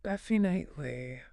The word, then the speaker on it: definitely: and definitely with the stress on def. Definitely.